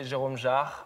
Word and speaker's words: Jérôme Jarre: I mean, in French we say Jérôme Jarre, but I'm not gonna ask you to say Jérôme it.